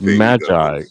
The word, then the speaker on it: magi: Well, this is Babylon and it's magi. It's not Mi.